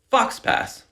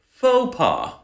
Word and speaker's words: faux pas: You might see something like this and pronounce it fox pass. But if I were to tell you, just repeat after me, faux pas, you'd have a much easier time pronouncing that word.